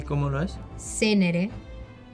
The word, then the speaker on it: Zenere: Pero voy Senere.